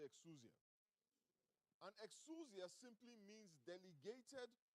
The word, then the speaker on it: exousia: And the word translated as authority comes from a Greek word pronounced exousia. Turn to your neighbor and say exousia.